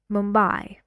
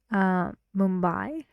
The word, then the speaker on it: Mumbai: example I went to Mumbai I went to Mumbai I went to Mumbai you see I say the stressed part louder and longer but the intonation is